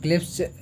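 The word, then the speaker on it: Clebsch: next है क्लिप्स, या इसको आप बी को साइलेंट कर दीजिए, क्लिप्स गॉर्डन कोफिशिएंट, ये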